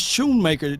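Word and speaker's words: Schoemaker: his show it's true it's Shoemaker that c is silent I appreciate you Sanjay so he's Shoon maker man you know what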